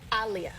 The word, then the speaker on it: Aaliyah: Aliyah. Oh, jeez. Like Muhammad Ali.